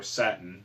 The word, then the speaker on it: Satan: I mean, they flat out call him Satan, or Satin. That's just the way it's pronounced in Japanese.